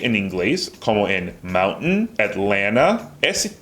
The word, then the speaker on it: Atlanta: So when it comes after an N, we almost just drop the T completely. Wait, there's a slight sound, right? Because if you ask me to say Atlanta without the T, I say Alana.